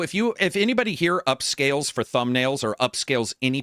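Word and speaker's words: Upscayl: free one on GitHub called upscale UPS c a y l so it's spelled weird UPS c a y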